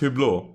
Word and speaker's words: Hublot: Or is it, wait, it's pronounced Hublot? Is that how it's pronounced? It's pronounced Hublot.